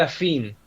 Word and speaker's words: afín: una nueva figura y que a fin va todo junto y con acento en la i. O sea, vos fíjate que el que defiende los derechos del niño ni siquiera sabe escribir progenitor afí.